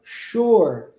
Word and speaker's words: sure: shore antes de repetirmos sh possui um s mas o s tem um som de X isso acontece também com